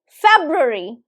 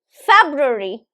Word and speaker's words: February: So the third syllable is actually, it's like kind of swallowed.